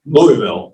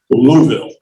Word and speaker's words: Louisville: best place they ever moved me to was Louisville, or as the natives out there insist on calling it, Louisville.